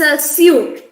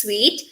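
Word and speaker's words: suite: server okay uh this this is a suit this we read it as a suit but here uh the pronunciation is sweet like the taste sweet uh the pronunciation of this is sweet a sweet is a luxurious room you see in a hotel where you stay it's a sweet instead of a suit this word i know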